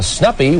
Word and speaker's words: Snuppy: nicknam their clone pal snuppy which stands for soul National University puppy and more importantly it rhymes with puppy Snappy oh you agree